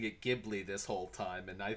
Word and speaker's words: Ghibli: Well, I take it from the Japanese pronunciation, which is Ghibli, Yeah, right? Ghibli.